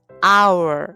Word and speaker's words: hour: 여기 보시면 h 아아 h 자음이 h 무음이에요 소리가 안나요 그래서 실제 소리는 our 이렇게 소리가 나거든요 그럼 our 하기 어렵기